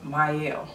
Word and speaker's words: Mielle: with Babassu oil, and it's pronounced Mielle. Mielle, okay? People are still saying this brand name wrong, okay?